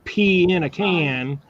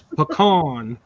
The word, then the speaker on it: pecan: way to say it it's not a pecan that you pee in a can it's pecan and it's not spelled with an O it's hooked on don't